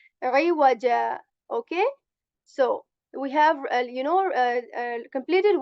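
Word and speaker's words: عوجا: as well that this, whenever we are going to pronounce wow, we are going to make our lips round, like iwaja. Okay, this jim sound is just similar to the j sound of English, iwaja.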